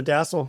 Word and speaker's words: DASSLE: Is it the DASSLE? Am I saying it correctly? You got it, the DASSLE.